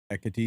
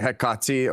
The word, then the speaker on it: Hekate: Ekati, in the the ka should be the emphasized syllable, be like ekati or hekati. Either hekati or hekate.